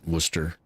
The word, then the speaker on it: Worcester: without the shire on the end but they pronounce it Worcester.